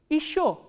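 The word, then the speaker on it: ещё: Again this ye, unstressed ye will be pronounced as e, not ye. So, how will you pronounce this word? Isho.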